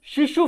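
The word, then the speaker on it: Tsheshu: उसके बाद है शिशु फेयर, कई इसको शिशु भी पढ़ते हैं, शिशु फेयर, कई इसको हिंदी में इसको छेशु बोलते हैं। ठीक है, यहां देखो शेशु लिखा है हमने, ये टी साइलेंट रहेगा।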